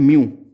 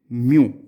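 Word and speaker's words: μ: तो इसको बोलते हैं म्यू, this symbol is pronounced as म्यू।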